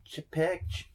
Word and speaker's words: Chapek: How the flip do you say his name? I have no idea. Chapek.